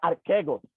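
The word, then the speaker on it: ἀρχηγός: Y aquí utilizaremos un verbo griego que se pronuncia archegos, que dice que él es el proveedor.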